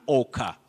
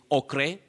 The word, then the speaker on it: ochre: You also say an ochre. You don't say okre or ochre. Avoid that.